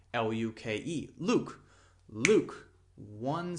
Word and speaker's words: Luke: But if the E were pronounced as then it would be Luke. That is not the correct pronunciation, but if it were said like that, then it would be two syllables, okay?